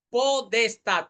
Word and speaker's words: potestad: Y esta palabra, pues la Real Academia de la Lengua dice que se puede pronunciar podestad con D. ¿Por qué se puede pronunciar así?